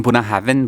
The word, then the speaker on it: Bunnahabhain: सो ये है the logo I believe बूना हा ये जो स्पेलिंग है ना बहुत कॉम्प्लिकेटेड है बूहा हा भेन ऐसा लगता है लेकिन बना हैवन बोलते हैं क्विकली आई माइट नॉट